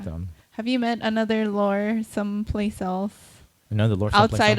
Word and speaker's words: Lor: The way they pronounce it, like Lor is low. But it's not spelled like that.